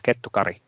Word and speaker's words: Kettukari: Notice I can actually say Carolina's last name in the right way. It's Kettukari. So not that many knows how to do that pronunciation properly.